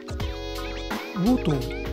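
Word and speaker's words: 魚豊: と書いてウォートさんと読むんですけど、魚に豊かという書くとハモと読むんですけ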